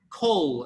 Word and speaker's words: coal: Like for example, we say coal. In that case, yes, right? Because you need to pronounce the L because that's the action.